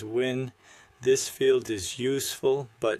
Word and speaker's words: Nguyen: For example, if your contact's name is Nguyen, you might write the phonetic version as Win.